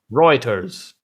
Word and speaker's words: Reuters: Reuters.